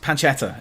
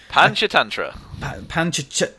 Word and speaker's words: Panchatantra: I'm glad you're reading the next card because I cannot pronounce it. Oh, Panchatantra. I'm just Panchetta. It's Panchetta. I'm sorry. It's Panchatantra.